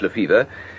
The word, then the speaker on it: Lefebvre: Spelt Lefebvre, but pronounced Lefevre.